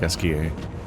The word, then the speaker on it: Esquie: So he pronounces it more like Esquier, or they do.